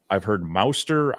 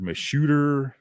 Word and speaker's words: Masuter: I've heard Mouster, I've heard Mashuter, I've heard Massuter. Well, So, in redneck and knees, it's Masuter.